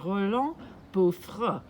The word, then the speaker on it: Roland Beaufre: This is Jilliana Ranicar-Breese, and I'm here in Tangier with the photographer Roland Beaufre. I got the name pronounced right.